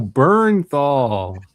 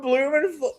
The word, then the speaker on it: Bernthal: Bernthal. Sound it out. With a U.